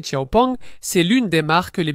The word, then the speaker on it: XPeng: Écrit XP mais prononcé Chiaong, c'est l'une des marques les plus sérieuses.